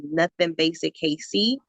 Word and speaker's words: NuthinBasicKC: bondage and also adds nothing basic Casey but nothing is spelled n-u-t-h-i-n basic the letter K the letter c I'm on Tick Tock